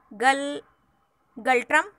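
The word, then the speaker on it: Ngultrum: Currency of Bhutan is Galtrum. N is silent here, Galtrum.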